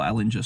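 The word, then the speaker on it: Ehlinger: are we not playing Sammy erlinger because or Ellinger sorry as the Americans say it um because at least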